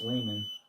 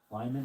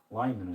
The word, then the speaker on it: Lyman: Circa a little crack in the lid on this layman. Lyman, how it's pronounced. Lyman, I think.